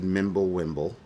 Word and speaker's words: Mimblewimble: They implemented Mimblewimble.